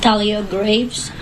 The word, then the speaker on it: Thalia Graves: Do you want to pronounce her name? Thalia Graves.